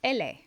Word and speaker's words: ele: ka in their spelling the next letter we have is ele and it sounds like the english el la la libro li